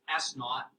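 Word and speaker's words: s₀: zero at the end that's pronounced s naught and that's your initial height if you drop an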